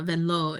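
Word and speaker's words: Vanloo: That's how Julie Vanlow gets on that team. um or if we're in the states, which we are, Julie Vanlu, but uh Vanlau is how you say it.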